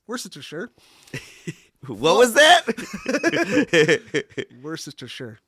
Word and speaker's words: Worcestershire: I heard him pronounce Worcestershire. What was that? Worcestershire. Worcestershire.